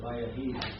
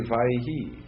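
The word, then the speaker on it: וַיְהִי: Because according to our rules, it should be Vaihi. But I've always heard it Vayahi.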